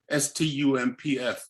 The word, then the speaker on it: Stumpf: The same was true of my great-grandmother, Elizabeth Warner, who married Jacob Stump, and Stump is spelled S-T-U-M-P-F, so Stumpf.